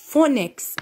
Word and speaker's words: phonics: Phonics. البي مع الاتش تلفظ اف.